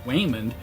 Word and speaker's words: Waymond: Now, in the film, her mild-mannered husband, Raymond, pronounced Waymond, comes into the room.